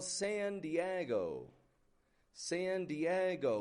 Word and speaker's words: San Diego: We have a modified wide A on that San. I'm not giving it just a San Diego, but San. Stretching it right out. Getting that an sound in there. The E in Diego. That's the stressed part of the word. That's the strong part of the word. Diego. Go. And then it goes kind of flat on that O.